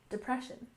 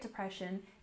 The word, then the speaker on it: depression: have the Great Depression we stress the second syllable in depression depression you might be used